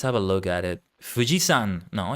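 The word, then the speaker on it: 富士山: you say Mount Fuji in Japanese is it Fuji Yama Fujiyama I think it's Fujiyama literally let's have a look at it fujisan no it's not Yama it's not Yama it's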